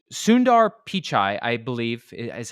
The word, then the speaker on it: Sundar Pichai: a big lesson this week okay so s Sundar pichai I believe is how you say it he